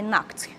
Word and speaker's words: knocked: I knocked. K ali é mudo, KN, quando se tem esse encontro, né? Vocês vão sempre deixar o K ali mudo, você não vai pronunciar, tá?